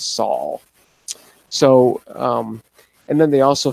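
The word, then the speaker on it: sol: a little bit more what they call themselves saul soul you know there's lots of pronunciations i think the proper pronunciation is saul so and then they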